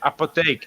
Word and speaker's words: apotheek: We call it apotheek in Dutch, but it means pharmacy, right?